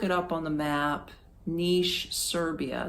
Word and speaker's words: Niš: was in was called Niš, but they actually spell it N-I-S, like no I-S, but they pronounce it with an H. So if you want to look it up on the map, Niš, Serbia, it's the southern part of Serbia.